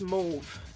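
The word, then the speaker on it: mauve: to use V2 Mau I have to remember constantly that in English is pronounced Mau because in French is pronounced move and I'm not there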